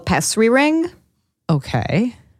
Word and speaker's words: pessary: It's pessary. Pestry. Like Petri? Pessry is what my mom...